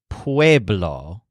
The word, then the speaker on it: pueblo: this represents the word Pueblo with a stress on wave remember that Joel's bees sound a lot like his V's so the stress syllable sounds like wave but the word is Pueblo Pueblo essentially means people